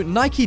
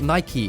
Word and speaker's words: Nike: you guys ask no Nike didn't make their very own zombie proof house this is actually a missile based which is pronounced Nik not Nike but anyways this is